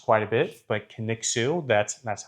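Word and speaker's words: Kaniksu: That gets mispronounced quite a bit, but Kixu, that's that's how you say it.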